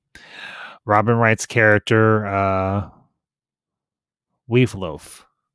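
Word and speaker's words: Wealhtheow: robin wright's character uh we've loaf i believe is how you pronounce her name obviously there's a these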